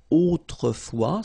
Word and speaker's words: autrefois: Autrefois, so A-U, autrefois, final S not pronounced, okay?